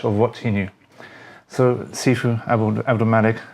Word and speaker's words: Sifu: The word Sifu comes from two words, right? And but basically it's broken into 2 syllables, si and fu.